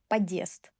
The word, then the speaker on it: подъезд: Подъезд will sound as подъезд. It's incorrect. So every time when you see hard sign, you don't need to be confused, you just need to know that you need to separate word for syllables.